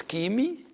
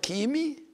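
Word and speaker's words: ⲭⲏⲙⲓ: from some other language, this letter is always pronounced k. And the example is kimi, and I said the word kimi, actually it is derived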